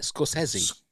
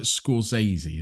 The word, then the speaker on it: Scorsese: which I was watching about cinemas, how he pronounced it himself. So how did he say it? Scorsese. Almost, well, not quite, but it wasn't like Scorsese, as we would say.